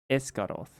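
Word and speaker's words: Esgaroth: Oh, this the pronunciation oak gateway esgos Ess it's loud. Sorry. Escaroth.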